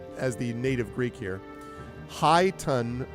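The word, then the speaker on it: χιτών: High ton with an emphasis on ton.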